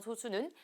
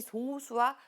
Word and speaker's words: 소수: 조금 달라요 그래서 예전에는이 소수와 소수를 구분하기 위해서이 작은 소수는 발음을 좀 길게 그래서 소수 이렇게 얘기를 했었고이 1보다 큰 자연수 중 1과 자기 자신만을 약수로 갖는 수는 발음을 좀 짧게 소수 이렇게도 부르기도 했어요 지금은 큰